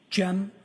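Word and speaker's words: Cem: I also spell it uh with a gem m. And could you tell us your name, sir? Jim.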